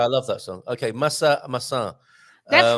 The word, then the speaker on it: maçã: If you say massa instead of maçã. Maçã, you should have a till on the last A.